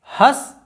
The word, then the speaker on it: हंस: है, हंस, हस, हंस, हस, हंस। अब देखिए इसमें अंतर देखिए, यहाँ पर अनुनासिक की जगह हम अनुस्वार लिख देते हैं। यह है हंस, हंस, हंस, हंस, हंस।